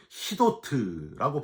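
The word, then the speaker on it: חידות: 요거는 히브리어로 히도트라고 발음을 하는데 풀어내야 되는 수께를 의미해요.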